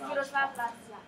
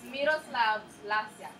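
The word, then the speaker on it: Miroslav Lajčák: It's Miroslav Lajka. Okay, well, she'll pronounce it better than I will. Right, so say it again. Miroslav Lajka.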